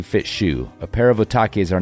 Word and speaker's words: Otaki: I've been obsessing with the name Otaki since Sportiva released the slick blue shoe a couple years ago. Rhymes with souvlaki.